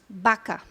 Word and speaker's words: vaca: Em vários países da América Latina, o fonema B se solapa com o fonema V. Yeah? Então, a palavra vaca, ortograficamente, se escreve igual. O português, V-A-C-A. Mas eles falam baca.